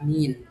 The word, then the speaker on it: mean: Jadi, cara membacanya bukan mean ya, tapi cara membacanya adalah min.